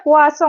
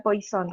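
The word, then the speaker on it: Poisson: yang terakhir ada wasong bacanya puasa ya bukan Poison soalnya dia orang Perancis bukan orang Inggris nah yel akan kita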